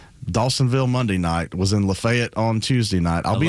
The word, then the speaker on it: LaFayette: I love the fact you said it right. Yeah. Yeah. Because a lot a lot of people you know that that are from metro Atlanta would say Lafayette growing up up there